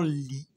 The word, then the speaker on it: lit: de mon lit. C'est bon. de mon lit. تف آخر الكلمة لا تنطق.